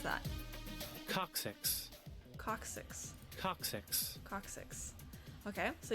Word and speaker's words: coccyx: How do you pronounce that? Coccyx.